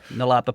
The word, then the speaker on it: Nullarbor: But is it pronounced Nullarbor? Yeah, Nullarbor Plain.